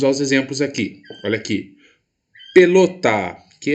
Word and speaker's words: pelota: é a sílaba tônica vou chamar no portão pelota pelota posso ir o meu emprego mais potência vocal para pronunciar pelotaa a sílaba lo então quer dizer que a cida falou é a mais forte é a sílaba tônica da minha palavra olha onde ela se